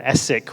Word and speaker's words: ESIC: And we end up with an essic win. It rhy rhymes with epic if you didn't get it.